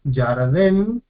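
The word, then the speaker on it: ירדן: Tenemos Yarden, Yarden, en este caso dos sílabas cerradas, consonante, Yod, vocal, Pata, consonante, Resh. Este lleva el silencioso porque está precedido por una vocal corta. Yar, primer sílaba, cerrada, Den, segunda sílaba, Dalet, Tere, Nun, consonante, vocal, consonante, sílaba cerrada.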